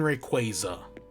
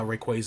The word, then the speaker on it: Rayquaza: it arceus arceus and rayquaza not rayquaza rayquaza like quasar it's hydro city hydrocity